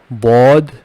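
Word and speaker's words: ض: When I pronounce here bod, I am touching my tongue on the back side of the upper teeth.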